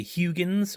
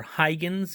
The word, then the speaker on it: Huygens: I'm from I'm from Pennsylvania, so when I see how this pronounce Huy, I say Huygens or Huygens, depending on a different. I've heard it said different times. He's not around to tell us how he pronounced his last name properly.